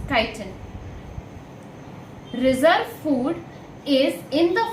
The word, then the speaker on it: chitin: cell wall contains chitin you do not pronounce it as titan it is chitin reserve food is in